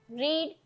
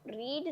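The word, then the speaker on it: read: Should you have रीड the book रीड नहीं रेड है। We three है इसलिए रीड का स्पेलिंग सेम रहेगा। लेकिन उसका जो प्रोनंसिएशन है वो चेंज हो जाएगा। रेड हो जाएगा।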